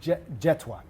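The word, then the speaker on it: Jethwa: Jetwa. Jetwa. Yeah, the H is silent, but a little secret, I pronounce my own name wrong half the time.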